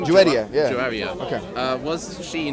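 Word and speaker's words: Juwayriyah: Muhammad's wife, Juwaria, is that how you pronounce her name? Juwaria, yeah.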